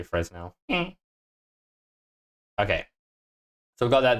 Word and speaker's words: Fresnel: the object, I low-key might just do the Fresnel thing.